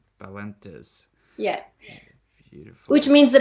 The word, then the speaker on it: Balentes: It's Balentes. Balentes.